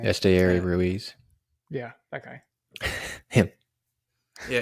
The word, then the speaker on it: Esteury Ruiz: Esteury Ruiz.